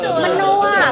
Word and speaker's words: Menoewa: siapa nih menoa halo kenalin nama gua entar bacanya benar menoa kan ya iya betul menoa karena tulisannya ini unik banget loh ya apa